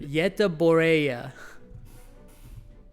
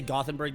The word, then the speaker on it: Göteborg: Göteborg. Göteborg. That's how you say Gothenburg? That's what Legendam says. You don't say Gothenburg, you say Göteborg.